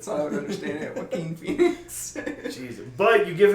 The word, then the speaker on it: Joaquin: Yeah, Joaquin. Thank you. Joaquin. This jabron called him Jaquan Phoenix.